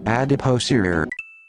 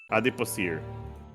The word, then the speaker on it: adipocere: How do you pronounce that? To Google. Adipocere. Adipocere. Okay, cool. I was right. All right, cool. Okay. Adipocere.